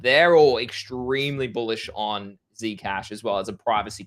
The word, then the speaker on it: Zcash: Hey, do you reckon uh Zcash or how do you say Zedcash? Zcash Zcash. Yeah, either or.